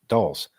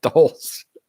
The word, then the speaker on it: Doles: police commentary spot on my last name is pronounced like Dole oh there you go Dole with an S you mispronounced it last time dolls I mispronounced it this